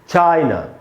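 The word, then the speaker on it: China: उसके बाद दोस्तों चाइना, ये भी हमारा पड़ोसी देश है, और इसमें भी एंड में ए है, इसीलिए इसमें भी आ का साउंड नहीं, आधा अ का साउंड आएगा, और इसको हम पढ़ेंगे चाइना, चाइना।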